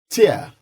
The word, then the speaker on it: tear: the language and here they are here here tear from the eyes remember tear from the eyes